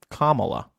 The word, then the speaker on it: Kamala: Kamala. That's easy to remember because calm and then like Pamela. Kamala.